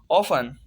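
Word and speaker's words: often: टी हमेशा silent होगा। जैसे ऑफन, ऑफन मीन अक्सर।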